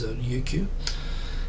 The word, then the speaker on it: Ryukyu: The Chinese, I think, spell it Ryukyu, like with an L. Of course, Japanese doesn't have an L, so in Japanese it's known as Ryukyu.